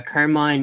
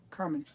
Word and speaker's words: Carmine: Carmen. Carmen Infantino. Sorry, it's spelled Carmine and I've pronounced it that way forever.